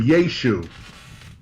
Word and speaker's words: Yeshu: archaeology and whatever that the pronunciation would have been yeashu it still would have been spelled with the iron on the end but the sound the pronunciation the guttural ion at the end would have been dropped okay i got you